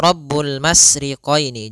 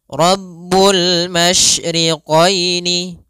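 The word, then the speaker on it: رَبُّ الْمَشْرِقَيْنِ: yaitu menyebarnya suara sehingga Jangan dibaca rbul masriqini jangan dengan huruf Sin tapi dia huruf syin Mas AS rabbul masyriqaini pada lafal qini di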